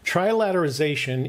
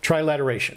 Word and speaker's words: trilateration: are trilateration is slightly different from that trilateralization is the need did i say it i'm going to do this you're going to have to correct me every time just so i can start saying it right trilateration yes trilateration is just the